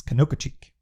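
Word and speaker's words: Conococheague: by the way canoka i got to do this right that is how you pronounce that big road roll like the locals do not like me because i can never pronounce this canoka cheek that's the name that's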